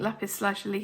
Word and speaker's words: lapis lazuli: I think lapis lazuli is how we say it in the UK.